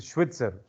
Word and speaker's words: Schweitzer: dr mary's who is a swoosh streetweaser don't pronounce it it's a schwitzer yes got one of the leg bones to